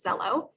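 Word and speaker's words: Xello: a white box that says zello which is spelled x-e-l-l-o if students try to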